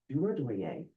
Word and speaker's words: Durodoye: Again, I am Durodoye, and that is spelled D-U-R-O-D-O-Y-E for the record.